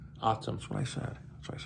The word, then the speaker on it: ATUM: Autumn, ATUM.